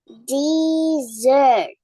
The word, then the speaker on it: dessert: They have different pronunciation and, of course, different meanings too.